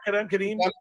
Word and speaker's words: Kadeem: Is that how you say it, Pete? Kadeem? Yeah, Kadeem. A 1:23 time for him US, which is pretty quick.